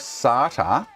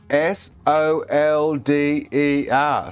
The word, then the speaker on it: solder: I'm like, how the do you derive sarta s a r t e r out of solder? How the do you come to that equation? Seriously, serious question. How the do the Americans come to that equation? Like, are you serious? S O L D E R solder. And you read that word and you say sart. Where's the A in it for a start?